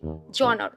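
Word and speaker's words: genre: Read कर रही थी तो मैंने इसको प्रोनाउंस किया जेनरे। फिर मैंने टीचर के मुंह से सुना, वो प्रोनाउंस करी थी जॉनर। बट जब मैंने फोनेटिक ट्रांसक्रिप्शन की स्टडी की तो मुझे पता चला ये है जॉनर।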